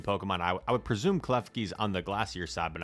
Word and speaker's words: Klefki: Also, I don't know how to pronounce this trainer's name. Is that it's Klefki.